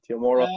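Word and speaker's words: Temuera: name teo or yeah tomorrow tomorrow yeah he is pronounced like that yeah yeah tomorrow morrison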